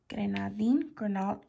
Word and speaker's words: grenadine: how to pronounce that grenadine there's no l there sorry guys i did